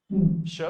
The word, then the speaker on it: chat: CH हमेशा 'sha' होता है। शा, तो तुम्हें यह पता है, तो रविंद्र, मुझे बताओ कि अगर हम T का उच्चारण न करें तो CHAT को कैसे पढ़ेंगे? शा.